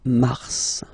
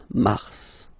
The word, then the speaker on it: Mars: So in a way it's an exception because normally final S is not pronounced in French. Okay. We've got some exceptions and this one is one of them. So Mars pronounce the final S. Mars. Mars.